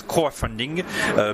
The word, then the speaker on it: Croafunding: how long it's called Croafunding? Is that how you pronounce it? Yes, Croafunding, because in France, when the cry of the frog is croix, so that's kind of a silly name, but there is a